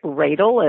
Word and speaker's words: Radle: You could ask for Eric Radle, and his name is spelled like Ladle, R-A-D-L-E.